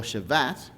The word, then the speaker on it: Shabbat: And it's interesting to know that the word Sabbath or Shabbat is how the Jews pronounce it, it means to cease,